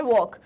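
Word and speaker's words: walk: पहला लेटर ही है वॉक वॉक में आपको वॉक सब सुनाई दे रहा है बट लर्न इसमें एल इस डी साइलेंट लेटर है स्ट्रेट स्ट्रेट स्ट्रेट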